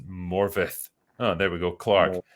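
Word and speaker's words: Morfydd: to support my welsh-speaking sister morford uh fyi pronounced morvith oh there we go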